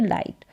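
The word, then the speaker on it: light: यहां पर उच्चारण देखा आई जी एच टी जिसको आइट करके पढ़ा यानी कि इट करके यहां पर प्रोनाउंस नहीं कर देना जैसे इसको फिट कर दिया इसको लिट कर दिया या इसको रिट करके कर दिया तो यह वाला तरीका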